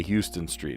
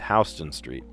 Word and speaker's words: Houston Street: You look like an idiot if you say Houston Street. No, it's Hston Street.